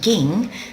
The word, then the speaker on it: 銀: this is the kanji here for silver it's pronounced ging and over here we can see it's used